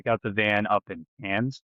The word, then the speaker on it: Cairns: So we got the van up in Cairns, spelled like Carnes, Okay. but it's pronounced Cairns.